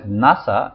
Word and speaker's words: NASA: not said an as NASA is pronounced as a word and not as a series of letters so we will have a NASA engineer and not an